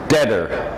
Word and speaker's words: debtor: Deader. Let the B go. Deader. There's a B there, but just let it go.